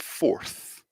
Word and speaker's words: forth: my teeth fourth fourth so we have force and forth and the only difference here is that last sound and says force